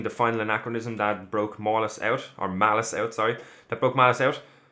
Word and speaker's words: Malice: finding out that the heroes, everybody, has been mispronouncing Malice's name the entire season. His name is actually Malice, and it was so good for some of